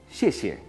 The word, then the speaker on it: 谢谢: Xie xie parecerían ser dos sonidos similares, pero que cambian el tono. Xie, cuarto tono, descendente, casi como con tilde. Xie, y la segunda un tono ligero.